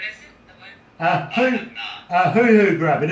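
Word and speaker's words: huhu: But also, have you ever heard of a hoo-hoo grub? Wait, what is it? The what? A hoo-hoo grub, and it's spelled H-U-H-U.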